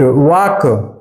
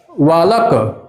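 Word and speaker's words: walk: वाक। वाक का होता है वाक्ड। अच्छा इसमें देखता हूं। बहुत बच्चे ऐसे पढ़ते हैं। वालक। डब्ल्यू ए एल के वालक इसमें एल साइलेंट रहता है।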